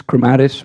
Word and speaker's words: crematis: name proper how would how should we be saying it it's crematis but you know either